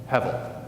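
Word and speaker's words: הבל: Hevel. H-B-L in Hebrew is a hard to translate word, but it's pronounced hevel.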